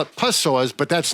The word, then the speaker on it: psoas: Psoas. Psoas. It's a psoas. There's a P at the beginning, which really throws a lot of people. Psoas. I used to call it psoas, but that's not right either.